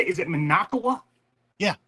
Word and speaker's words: Minocqua: Do you say is it Minocqua? Yeah. Minocqua. Minocqua.